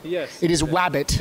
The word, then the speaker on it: Wabbit: the new Looney Tune show wabbit am I pronouncing it correctly yes it is wabbit it's wabbit now be a darling and give